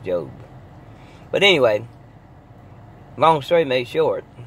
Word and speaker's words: Job: you that I'm living the real life of Jobe in the Bible what they call it job but somehow it's pronounced Jobe but anyway long story short I meant to